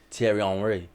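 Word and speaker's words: Thierry Henry: Tierry Henry.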